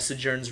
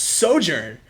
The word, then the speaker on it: Sojourn: stream initially started, that it's pronounced Sojourn. How were you pronouncing it earlier? Sojourn? Oh my goodness. That's how it's pronounced.